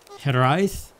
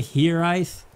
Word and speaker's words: Hiraeth: it's a Welsh word you pronounce it hit her eyes I believe some people say he rice but I think that's wrong if the role the are but it is a